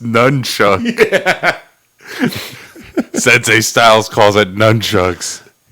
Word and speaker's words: nunchaku: had just performed his nunchaku's form. And after dismissing him off to the side with a mutual bow while screaming, "It's pronounced nunchucks."